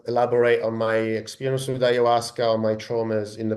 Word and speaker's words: ayahuasca: Uh, Pronounce that word again for listeners. The plant is called ayahuasca.